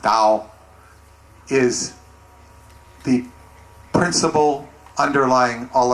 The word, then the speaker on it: Tao: dao the dao or tao in english which pronounced dao is the principle underlying all other principles the